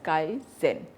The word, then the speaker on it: Kaizen: what is Kaizen approach Kaizen means that every one is involved in making improvements it is pronounced as Kyle Zen is based on the